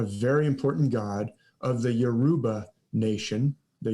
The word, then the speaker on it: Yoruba: This is a god, a very important god of the Yoruba nation, the Yoruba, or sometimes I've heard it pronounced like Jeruba.